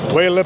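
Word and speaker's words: Weil: It's pronounced Wellic, right? Whale. So, it's very easy if you think of it the following way. So, whale is the last name of one of the greatest mathematicians of last century.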